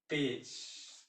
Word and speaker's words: page: जैसे PAGE, पेज, तो देखिए जी के बाद ये आया तो ये ज के रूप में आया।